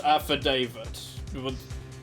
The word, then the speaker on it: affidavit: this evidence this Aid it's actually pronounced affidavit you know Mr Wright was really incorrect when he tried to pronounce it kind of French way back in uh the first series but it sounds fancier this way your honor you make